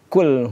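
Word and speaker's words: قُلْ: Kalau kita seperti dalam surah al-Ikhlas kita membaca qul huwallahu ahad. Kalau membaca kaf itu artinya makanlah.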